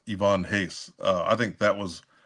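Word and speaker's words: Ivan Reis: say I used to say Ivan Reese is pronounced Ivonne Hace. Uh, I think that was uh around his run. Wait a second. Let's back up. It's pronounced what? Ivonne Hace. It's not Ivan Rice.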